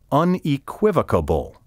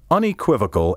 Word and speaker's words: unequivocal: how you pronounce it I have heard many educated speakers add a syllable to the word and say unequivocable and I have even seen the word misspelled in books and magazines to reflect the mispronunciation no matter who you hear saying unequivocable it's incorrect A beastly mispronunciation unequivocal ends with vocal v-o-c-a-l not vocable v-o-c-a-b-l-e take care to